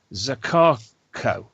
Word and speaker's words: Zakarko: He's put it as Marek Zakhero, but it's actually Marek Zakarko.